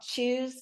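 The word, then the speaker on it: Chuz: time I asked there's this company called Choose Fitness but it's spelled c-h-u-z and I asked her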